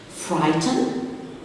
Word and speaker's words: frighten: Frighten, the silent letter is the GH before the T.